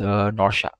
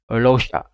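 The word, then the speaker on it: Luocha: So the next character is Norsha. Not Norsha, Losha.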